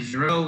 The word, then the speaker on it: Giraud: wasn't familiar with it so alfred zero you almost want to leave the d off it's silent so pronouncing the name